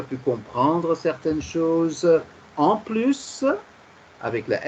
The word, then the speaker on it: plus: Et comme ça, on fera en sorte qu'il n'y ait plus d'erreurs. Comme ça, il faut qu'il n'y ait plus d'erreurs. Ah oui, oui. Plus prononcées sans le S.